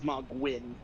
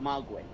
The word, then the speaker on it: Mohgwyn: This is Mogwyn.